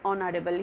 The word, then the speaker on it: honorable: Words such as are and honorable are pronounced as are and honorable. Here, H sound is silent. It's not pronounced.